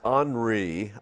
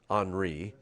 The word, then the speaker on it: Henri: All right, so here is Henri.